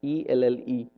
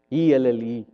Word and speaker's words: Elle: ELLE. That's it. Must be French. Ha. No wonder. You can just write one L and done with. ELLE. And you still say it as L.